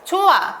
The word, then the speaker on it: 좋아: 좋아, 발음할 땐 히읗이 없어지만 필기할 땐 히읗 그대로 남아 있습니다.